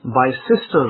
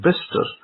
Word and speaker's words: Bicester: Now I remember that there's a road that was near to my house called Bister Road, Bicester. Now if I read it in the grammatical form, I would read that road as Bicester Road, because it's got Bicester.